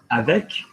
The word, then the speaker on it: avec: Now, there are some words where you will pronounce the letter. They come from Older French as well. They used to be spelled, you know, Q-U-E and different things. So, avec, with, we're going to pronounce the C.